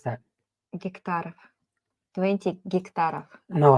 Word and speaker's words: гектаров: How do you pronounce that? Гектаров.